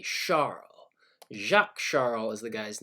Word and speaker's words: Charles: behind this particular law he's actually a Frenchman and you don't pronounce his name Charles it's actually Charla Chuck Charles the guy's